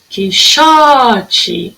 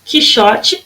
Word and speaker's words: Quixote: Quixote. Quixote, a sílaba mais forte, era a penúltima.